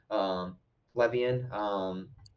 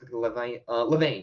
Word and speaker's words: Levain: of them was um, is it Lev? I'm trying to make sure I'm pronouncing the name right because I was calling it the wrong thing the entire time. Levian. It was Levain, yeah, Levain Bakery, and they were